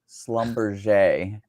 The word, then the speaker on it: Schlumberger: Yeah, I never could pronounce it right until somebody actually from the company was like, pretended, say it's French. Schlumberger. Anyway, like Fabergé.